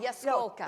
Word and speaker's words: Jaskolka: Yaskolka.